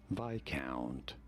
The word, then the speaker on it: viscount: On the I syllable. Viscount.